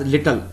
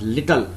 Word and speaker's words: little: It is not little. I have seen most of the people pronounce this as little. It's not little. It's little.